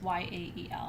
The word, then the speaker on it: Yael: i do that um i was trying to pronounce it like it's hebrew because in in hebrew ya l is y-a-e-l and it's ya-el i had two graduate students